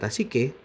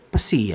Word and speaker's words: psyche: Huruf awal dari kata psyche adalah si. Ini bacanya bukan pesi ya, perhatikan, jangan dibaca pesi tetapi dibaca si.